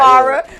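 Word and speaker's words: Pharr: They trying to spell that as P-H-A-R-R. Not with an F. P-H-A-R-R. Just like phone. Not far. You know what I'm saying?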